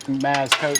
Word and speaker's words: MazCoat: That's a little quick maz-coat tip, maz-coat. How do you pronounce it?